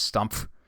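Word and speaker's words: Stumpf: last name I mean the pH at the end where you like ha PF at the end where you have to pronounce it just stump I uh no just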